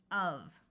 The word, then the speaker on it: of: in this word word the f is going to have a v sound so this word is of this word and this